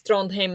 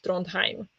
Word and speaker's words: Trondheim: Yeah, in Norwegian, it's Heim. It's not Heim in Norwegian. So you have Trondheim. It is Trondheim, not Trondheim. In German, you would pronounce it Heim, right, Natalie?